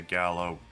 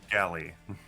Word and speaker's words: galley: probably be in the Gallow boiling something in the galley you mean yeah no you said gallo we're all in the Gallow s wrong ending syllable wrong vowel so galley I think uh Rosie